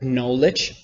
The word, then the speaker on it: knowledge: with K M together like knowledge it's not pronounced there when you have